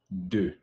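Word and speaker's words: deux: Joe get that right so in French is do and remember guys you can take note or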